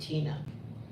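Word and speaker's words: Tena: And so, Jack is in the same family grouping with a woman named Tina. And it's spelled T-E-N-A, not T-I-N-A.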